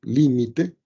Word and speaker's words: límite: abrevia de esta manera, acento en la I, por supuesto, límite de la función seno,